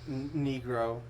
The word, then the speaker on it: negro: But no, the Spanish word negro, which you would pronounce it negro, but it just means black, like the color black, like your glasses.